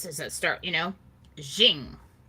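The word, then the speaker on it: Qing: it start you know zing is how he said it and it was a little different than that um he said it correctly i can't do it um so i i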